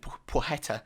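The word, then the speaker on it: Płacheta: signings they've made recently with pogetta i've learned is the actual correct pronunciation um so i think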